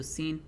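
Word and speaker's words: سين: So seen is a lot like the letter S.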